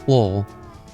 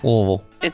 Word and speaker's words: Louisville: And my favorite way of hearing you pronounce it is Lowell. What was that? Lowell. I swear it's the way the locals say it. Lowell.